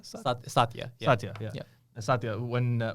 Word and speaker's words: Satya: and we talked about so how do you pronounce his name exactly? Satya. Satya.